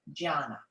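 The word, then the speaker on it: jnana: how alphabetical alphabetical letters are used but the pronunciation is gianna gianna when the palms facing up it is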